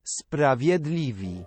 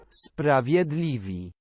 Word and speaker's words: Sprawiedliwi: Okay, how do I pronounce that? Sprawiedliwi. What? Sprawiedliwi.